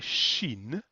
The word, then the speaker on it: Shin: kind of one letter here this is a shin a shin up here this one here we